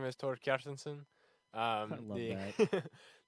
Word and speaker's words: Kjartansson: my name is Thor cartenson um the Americanized version is cartinson which is my legal name that's what I go by um captainson is the Icelandic pronunciation and spelling my family uh is